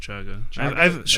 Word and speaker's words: chaga: pronounced shotgun I think I think it's pronounced chaga I haven't heard I've heard